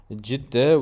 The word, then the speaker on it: Cidde: var ve cüde bakın Biz cutte biz ciddi diyoruz onlar ciddiyor doğrusu ciddi olması lazım Çünkü kullanım yaygınlığı Normalde